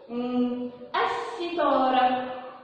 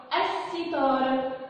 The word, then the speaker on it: الستارة: زي ما اقول مثلا الستارة، الستارة. سمعني صوت اللام؟ سمعنا صوت اللام. ليه ما سمعنا صوت اللام؟ عشان هي لام شمسية بكتبها لكن مش بنطقها.